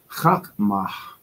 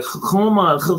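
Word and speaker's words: Chokhmah: Chakmah is the pronunciation of wisdom in Paleo Hebrew. Some people say Chokma, but Chakmah is a breathing.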